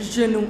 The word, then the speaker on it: genoux: However, the pronunciation doesn't change. Le genou, les genoux. You will not pronounce that X.